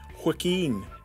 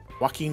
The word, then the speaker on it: Joaquin: one okay we'll answer it i think it's hacking phoenix no it is it is because i've seen the film it's not it's jay quinn phoenix no it's that's how you say his name philistine joaquin joaquin phoenix phoenix joaquin big green still got it